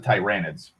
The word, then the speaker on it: Tyranids: Another big threat is the Tyranids, or the Tyranids. I pronounce it Tyranids.